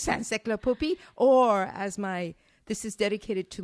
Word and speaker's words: Saint-Cirq-Lapopie: It's Saint-Cirq-Lapopie, or this is dedicated to my darling mother,